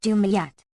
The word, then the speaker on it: Dimyat: FN number 267, Arab. Dimyat, Vulg. Pronounced Dumayat.